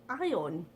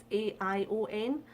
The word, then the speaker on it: Aion: However, one that I did find that was most highly recommended was Aion. I think that's how you pronounce it, is A-I-O-N, Aion.